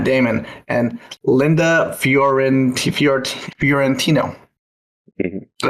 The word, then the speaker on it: Fiorentino: Florentino, that's how you say it. I think you have to say with accent or else it's hard to say.